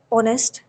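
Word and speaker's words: honest: जैसे ऑनेस्ट एच ओ एन ई एस टी ऑनेस्ट। इसमें H silent है।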